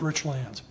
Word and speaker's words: Richlands: one of the F and it's pronounced Rich lands one of fundamental differences